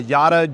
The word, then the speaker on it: Yotta: of your company, because I don't want to pronounce it wrong. Do you want to guess? Yeah, no, the company's name is Yotta Energy.